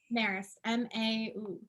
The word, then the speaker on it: Marist: Marist, Marist, M-A-R-I-S-T, Marist, phonetically as it sounds.